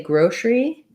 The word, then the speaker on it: grocery: One thing to watch out for is you don't really necessarily need to say grocery. We tend to reduce this and go right from our S or SH sound to our R sound. So grocery store, first syllable stress, or grocery store. So you don't want grocery or grocery, but rather grocery.